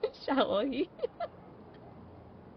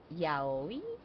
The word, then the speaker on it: yaoi: It would be kind of like the way that you all pronounce it is like yaoi. Or how is that pronounced in English? Because in Spanish we call it shaoi, like sh.